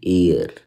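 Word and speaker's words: heir: Announced, क्या announced, तो देखो हेयर नहीं होता कभी, ये हेयर नहीं होता, इसकी प्रोनाउंसिएशन हम बोलते हैं एयर, एयर, ठीक है, ऐसे करके एयर, एयर, ठीक है। तो ये चीज ध्यान रखना, एयर होती है इसकी।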